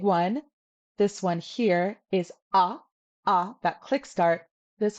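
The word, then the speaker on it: འ: In reality, it's a soft start, ah, ah. And I find the best way to do this is to drop your jaw. Ah, ah, ah. But this is tricky, and if you're really struggling, put in a little bit of a W.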